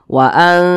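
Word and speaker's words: وَأَنْتُمْ: dekat makharijul hurufnya begitu Jadi cara membacanya itu lebih dominan berbunyi n jadi waum nah jangan dibaca waantum atau waantum Nah itu kurang tepat tapi bunyi n-nya itu lebih dominan waum nah seperti itu ikhfa Hakiki aqraab nah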